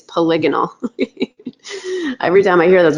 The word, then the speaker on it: polygonal: that Autodesk put out it calls that polygonal which is not a word I'm just gonna tell you it's not how you say it's polygonal every time I hear